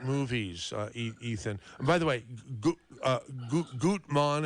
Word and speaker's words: Gutmann: By the way, Gutmann, am I pronouncing your no, you can say Gutman.